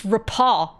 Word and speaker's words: rapport: He's reported that he's established a rapport. A rapport. A rapport? Hold on, this might be another one of those situations. Rapport. Pronunciation. Oh! You're right. I know. You're. Wait, in British it's rapaw.